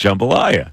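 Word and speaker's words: jambalaya: See, he tried to trick me with the jumbolaya he threw out compared to the normal spelling be where they don't try and trick you. That's the way it's pronounced. Jumbolayia.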